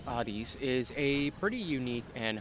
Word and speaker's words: Hades: Hades, or as the god is properly pronounced, Hades, is a pretty unique and highly praised roguelike